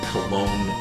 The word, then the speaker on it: Cologne: wdr radio Orchestra in Cologne Germany again I apologize if I butchered that that's col or it's cologne it is cologne yeah not right well